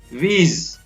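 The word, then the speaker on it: wheeze: Next है वीज, यहाँ पर भी H है वो साइलेंट रहता है।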